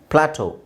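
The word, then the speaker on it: plateau: ಹೇಳ್ತಿವಿ ಮೆನು ಆರ್ ಮೆನ್ಯು ಪ್ಲಾಟೋ ಪ್ಲಾಟೋ ಆಮೇಲೆ ಲ್ಯೂ ಲ್ಯೂ ಇಲ್ನೋಡಿ ಈ ಎ ಯು ಈ ಎ ಯು ಇದೆ ಇದರ ಉಚ್ಚಾರಣೆ ಓ ಅಂತ ಹೇಳಬೇಕು ಅದೇ ವಿಚಿತ್ರ ನೀವು ಸಿಬಿ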